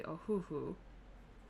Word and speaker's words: Ohuhu: over the board so the most common though seems to be a hoo-hoo so that's where we're